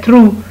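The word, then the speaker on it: through: फिर है थ्रू, थ्रू किसी चीज़ में से गुजरने को थ्रू कहते हैं, इसमें भी जी एच साइलेंट है।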